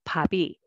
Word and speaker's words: 밥이: So instead of reading pop, E, you should read pabi, pabi. So both sound carry over.